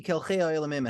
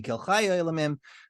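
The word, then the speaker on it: אל חי העולמים: The Rekeach specifies a pronunciation of Kel Chei HaOlamim versus Kel Chai HaOlamim, and the scribe interjects and he goes, with great respect to this rabbi, I know the rabbi must be mistaken, and this is not the correct pronunciation. It can't be Kel Chei HaOlamim, it has to be Kel Chai HaOlamim, because he explains theologically why you have to say Kel Chai, and he says, and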